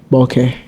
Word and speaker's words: Bhoke: today we got two amazing people we got Boke bu actually and you you actually you pronounced it right the first time oh yeah